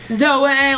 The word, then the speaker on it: Zoe: Zoe is the church I go to. It's spelled Zoe, but it's Zoe.